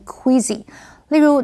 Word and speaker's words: queasy: OK，继续我们看 queasy 这个形容词，queasy 是指恶心、想吐的，或者是反胃的。注意 s 在这里是发 z 的音，念成 queasy。例如，Now that she's pregnant, Samantha feels queasy every